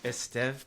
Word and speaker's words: Estève: let's give a brief introduction to everyone listening esteve is a consultant trainer speaker and designer he